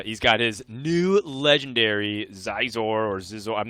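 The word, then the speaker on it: Zixor: He's got Dwarfven sharpshooter, fairy dragon, and uh he's got his new legendary Zizor or Zizor. I'm not sure how exactly to pronounce it. No, I think it's scissors. You got it right.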